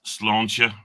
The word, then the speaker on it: Sláinte: And Joey, if you're watching, it's Sláinte. That's how you pronounce it.